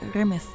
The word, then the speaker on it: رمث: على انها كلمه جمع وتت نطق رمث العلامه على شكل امواج المياه تتنطق ان ومعناها تابع ووراها كمت وهنا ريمن